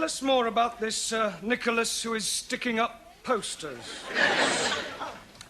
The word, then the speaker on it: Nicholas: upon a times there was a man called nickel ass it's not quite right no no once upon a time there was a woman called Nickolas it's pronounced Nicholas all right once upon a times there was